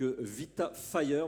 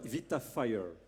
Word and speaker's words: Vita Fire: vous Stéphanie Mulin donc Vita fire moi quand je vous ai appelé j'ai dit bêtement vitafir sans faire le lien avec évidemment votre activité et c'est important de le prononcer à l'américaine à l'anglaise please could you explain